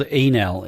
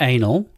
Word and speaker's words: Enel: You know, it's a company called Enel, E-N-E-L, not anal, Enel, which is.